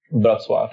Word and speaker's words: Wrocław: So my whole Polish family is outside of Wrocław, is how it's pronounced in Polish.